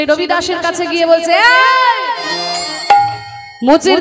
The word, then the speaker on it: রবিদাস: তার নাম হচ্ছে রুদাস আসলে রদাস তার নাম নয়। তার নাম হচ্ছে রবিদাস। বাঙালিরা বলে রুবিদাস।